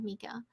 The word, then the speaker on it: Mika: sam howdy we got mika it is mika right yeah yeah not mecca mika what's up good people